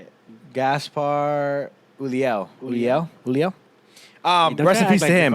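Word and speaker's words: Gaspard Ulliel: come on man bring that try harder to pronounce his name gaspard yulia let me see that's how you say it gaspar uliel julio um the recipe's him i get more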